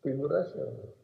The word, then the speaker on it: Figuracion: The American officers, they cannot pronounce my name. It's Figuracion, different kind of name.